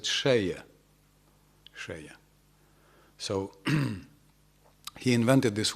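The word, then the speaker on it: Selye: The guy who invented the word stress, this was some Hungarian, Austrian, he's written Celje, but I understand Hungarians pronounce it Seje.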